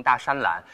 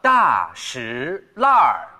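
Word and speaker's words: 大栅栏: 字之前呢大家经常读错读成大山栏、但其实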